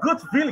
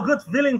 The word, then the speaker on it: Gutwilen: Michel Gutwillen, que eu vou chamar de Gutwillen, porque eu não sei pronunciar o nome dele, então vai ser Gutwillen. É, Willen, mas você chame do jeito que você quiser.